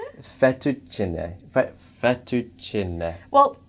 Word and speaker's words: fettuccine: really well that you you're pronouncing the e at the end okay so that's fantastic the e is supposed to be pronounced and you're also pronouncing the CC with the church sound which is also fantastic Oh effector cheney fettuccine